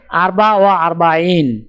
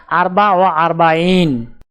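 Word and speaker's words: أربعة وأربعون: উচ্চারণ হবে আরবা ওয়া আরবাইন। তাহলে 44 ক্রমিক সংখ্যাটির আরবি উচ্চারণ হবে আরবা ওয়া আরবাইন।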